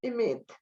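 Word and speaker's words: אמת: En hebreo se dice emet. Son 3 letras, Aleph, Mem, Tav.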